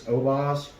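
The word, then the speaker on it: Oboz: good clean here so i believe you pronounce these obaz and these are really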